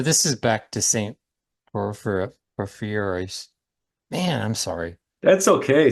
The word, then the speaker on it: Porphyrios: So this is back to Saint Porphyrios. Man, I'm sorry. That's okay. Saint Sa- Porphyrios is a it's Porphyrios, I did not even Porphyrio, know how to say his name when I first became Orthodox.